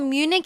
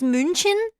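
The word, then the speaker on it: München: It's not Munich. It's Munchin. What is he saying? That's German pronunciation.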